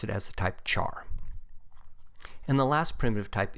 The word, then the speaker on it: char: is the type Char you may hear people pronounce it as type care since it is short for character but I've always pronounced it as the type Char and the last primitive